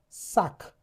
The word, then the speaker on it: sac: sac The c is pronounced.